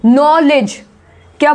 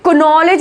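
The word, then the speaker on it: knowledge: देखिए नॉलेज, क्या बोल रहे हैं हम, नॉलेज। इसमें कनॉलेज नहीं बोलते हैं ना, कनॉलेज बोलते हैं नहीं, के साइलेंट है, इसको बोला जाएगा नॉलेज।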